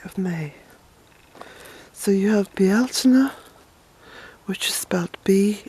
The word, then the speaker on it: Bealtaine: May so you have B Altoona which is about be e al t a ine some people pronounce it Belton and that's alright principe different way you